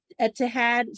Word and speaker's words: Etihad: already visited the, I don't know how to pronounce that, Etihad Stadium. Sorry, Etihad, Manchester.